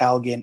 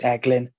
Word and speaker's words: Elgin: um i know that i pronounced elgin as eglin um in scotland so i i know